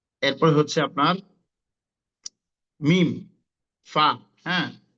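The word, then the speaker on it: فاء: এরপর হচ্ছে আপনার মিম, ফা। হ্যাঁ, তো এখানে ঠোঁটের সাথে সম্পৃক্ত ঠোঁট অর্থাৎ মানে সাফাবি, অর্থাৎ আমাদের যে ঠোঁট থেকে যে দুটো অক্ষর উচ্চারণ হয় সেই দুটো হচ্ছে মিম, আপনার হচ্ছে বা, ফা, এগুলো।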